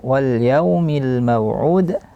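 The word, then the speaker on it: وَالْيَوْمِ الْمَوْعُودِ: boleh tebal harus tipis walumil maud juga tidak boleh masuk hidung sering terjadi kesalahan Ain di khum atau dimasukkan ke hidung bunyinya Wal Wal itu salah satu kesalahan tapi dia Dar Tengah tenggorokan langsung saja keluar dari rongga mulut bunyinya Wal maud kemudian ayat setelahnya was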